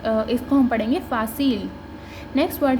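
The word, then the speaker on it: fácil: तो FA हमने भी पढ़ा है फा, CI अभी हमने देखा है सी, और L तो L है तो फासील।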